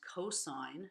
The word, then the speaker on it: cosine: This button, which is pronounced cosine, not cos.